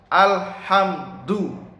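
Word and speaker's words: الحمد: Alhamdu, bacanya alhamdu. Al ditahan, jangan dipantulkan. Nah itu salah. Alham, apalagi alham. Nah itu salah, sangat fatal. Ya, karena di sini adalah bacaan alif lam qamariyah, harus jelas.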